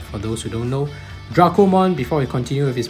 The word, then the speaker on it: Dracomon: characters of Dracomon's name, if you romanize the Japanese characters, it is pronounced Dorako. So the evidence supports it, so I'm just going to call it Dracomon.